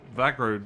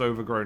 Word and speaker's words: Overgrow: We can't quite do it because this tile where the Vagro node is here. And yes, I know it's pronounced Overgrow node.